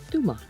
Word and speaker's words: Tomar: is a video about pronounced by the locals Duma I hope you enjoy